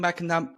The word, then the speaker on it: McNamara: Today we have Sean McNamara. Is that how I pronounce it? Yes. McNamara, there we go.